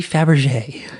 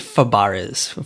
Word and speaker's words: Fabares: wrong and I'm sorry I think it's like a Fabares for some reason but you're seeing like Faberge like a Faberge egg like I don't think